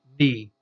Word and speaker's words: knee: Knee. Again, here's a KN. Sounds like a knee, not a knee, but a knee. Okay, so that's a KN. That's the typical N sound that we have there.